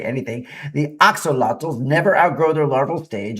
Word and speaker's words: axolotl: Axo- axolotl. Okay, very hard to say, but the pronunciation is axolotl.